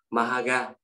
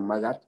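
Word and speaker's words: Magadh: cũng như Đại học Mahaga. Magat, Magat. Dạ. Magat, đọc là Magat.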